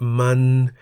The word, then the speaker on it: มา: For example, ma, meaning to come, and man, meaning it, each has one live syllable that begins with a low-class consonant ma and is therefore in the middle tone.